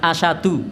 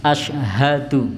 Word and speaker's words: asyhadu: ketika adzan itu adalah pada saat mengucapkan syahadat, asyhadu, biasa diucapkan asyadu. Nah, karena terlalu cepat, jadi harusnya haknya diucapkan asyhadu. Nah, biasanya diucap asyadu. Nah, jadi haknya hilang, itu biasanya di situ.